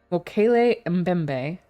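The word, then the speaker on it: Mokele-mbembe: Mokele Mbembe.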